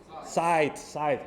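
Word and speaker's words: Zeit: I don't even know how to pronounce that, guys. Site, correct, Site. Correct.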